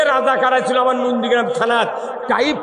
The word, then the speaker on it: রাজাকার: দিয়া কেন কাক রাজাকার ফাইজলাম রাজাকার এটা আমাদের তোকমা নয় এটা রাজাকার এটা ডিগ্রি আমরা ডিকশনারি পরে দেখেছি রাজাকার শব্দের অর্থ হলো এটা উচ্চারণ হবে রেজাকার রেজাকার শব্দের অর্থ হল